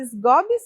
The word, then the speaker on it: Sgobbi: Estou aqui com a Amanda Sgobs. É isso mesmo, Amanda, que pronuncia seu nome?